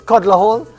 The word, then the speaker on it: Calder Hall: It's kind of like how Calder Hall is Codler Hall.